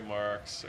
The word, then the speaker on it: Marques: There's, our first guest, Marques, and is that the proper pronunciation? Yeah, Marques, you got it, Hugh.